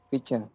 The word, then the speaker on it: Fischer: Bueno, es que no sé cómo se pronuncia su apellido, Bobby Fischer. Bobby Fischer. Fischer. Fischer. Fischer. Así como está escrito. Fischer.